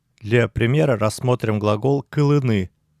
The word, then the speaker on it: кылы: Еще надо заметить, что ударение падает на первый слог смыслового глагола «кылы», «кыле».